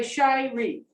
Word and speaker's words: Shirey: spelled it's spelled s-h-r-e-y it is pronounced shy like i'm a shy little girl which i am not and ree wong e okay shy ree okay i enjoy it